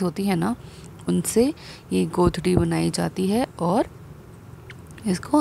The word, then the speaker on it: godri: A godri, it is pronounced as a, this one, godri.